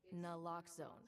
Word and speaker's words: naloxone: For the record, it's naloxone. Na like, is naloxone addictive? Nuh-uh. Lox like naloxone keeps humans safe like locks keep bikes safe, and own like naloxone can save lives in our very own communities.